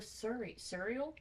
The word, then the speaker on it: Suriel: Because she tried to kill the Suriel?